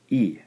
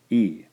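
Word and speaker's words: い: looks something like that so this one is pronounced e e all right our third syllable here is pronounced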